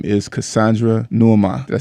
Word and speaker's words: Cassandra Nuamah: I call her Coach Cass Fit all the time, but her actual name is Cassandra Nuamah.